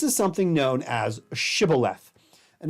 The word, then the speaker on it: shibboleth: And they say, I'll pronounce the word shibboleth, and they say sibboleth, because Hebrew has this sound that other languages did not.